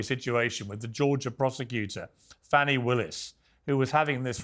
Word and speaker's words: Fani: And not only that, all these local cases like Fani. It's spelled Fanny. It's spelled Fanny like your ass, right, Fanny? But when she became DA, she decided to add a little French, a little fancy.